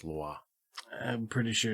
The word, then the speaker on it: Louis: I'm pretty sure it's not Meet Me in St. Louis. It's pronounced Louis.